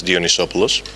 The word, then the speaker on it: Dionysopoulos: timman two years to be somewhat close to pronouncing my name it's dionisos um probably you know me as uh the